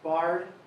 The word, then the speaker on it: Biard: So Captain Biard, so the last name is pronounced Biard.